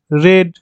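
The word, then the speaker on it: read: third form কি রিড রেড রেড আর ই এডি রিড আর ই এডি রেড হলো third form উচ্চারণটা আলাদা শুধু প্রোনাউন্সিয়েশন টা চেঞ্জ হবে বাট স্পেলিং টা সেম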